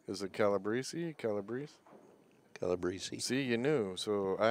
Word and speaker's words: Calabrese: Well, how's it pronounced? Is it Calabrese? Calabrese? Calabrese.